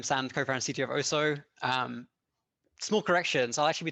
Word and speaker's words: Oso: Is it Oso or Oso? So Oso.